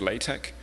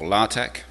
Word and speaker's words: LaTeX: originally so I use latch um or lch latex um depending on how you want to pronounce it um for writing my